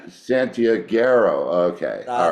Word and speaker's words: Santiaguero: So, Vacilón Santiaguero? Santiaguero. That's right. Santiaguero.